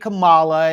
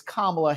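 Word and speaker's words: Kamala: and you and she she pronounced her name correctly so he understood it ain't Camala it ain't all whatever he's saying it's kamla Harris uh and she commanded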